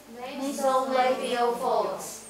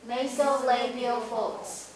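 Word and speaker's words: nasolabial folds: 好，来法令纹，来怎么念？Nasolabial folds。再一次。 Nasolabial folds。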